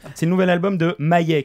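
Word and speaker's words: M.I.A.: C'est le nouvel album de Maye, qui s'écrit M.I.A, la chanteuse américano-sri-lankaise.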